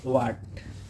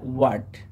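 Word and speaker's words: what: প্রথমেই আমরা এটাকে বলি হোয়াট, বাট এটা আসল উচ্চারণ হবে ওয়াট। ওয়াট, এখানে এইচ সাইলেন্ট থাকবে, এখানে এইচ এর কোনো উচ্চারণ হবে না।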